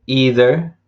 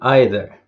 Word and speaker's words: either: And the same with either and either.